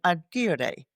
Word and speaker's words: agere: The word management comes from a Latin word, manos, which is hand, and agere. That's the Latin pronunciation, the way Caesar pronounced it. Agere, which means to make or to do.